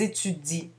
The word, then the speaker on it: étudient: Nous étudions, vous étudiez, elles étudient. On ne prononce pas le ENT.